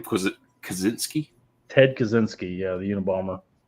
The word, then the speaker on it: Kaczynski: Kaczynski?